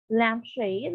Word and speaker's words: lampshade: What's the rule if it's a compound noun? The stress is on the first word. Okay, so remember that syllable is different from word. So if it's a compound noun, the syllable is on the first word, not on the first syllable. Okay, so here we have lampshade. What is the first word? It's lamp. So there's the stress.